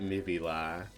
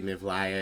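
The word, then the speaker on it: Mivla: Um but I do occasionally get Mibila and I'm like not the order of the letters. All right. Uh but yeah, let's start. Obviously, MVla is the pronunciation of the legally distinct D and D boss.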